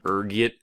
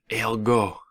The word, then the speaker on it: ergot: There's a few different ways you can pronounce it depending on your social standing, ranging from ergot to elgo. Being the disheveled pauper I am, I prefer ergot.